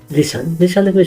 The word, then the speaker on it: listen: लिसनको spelling LISTEN भयो भने यसको उच्चारण लिसन हुन्छ।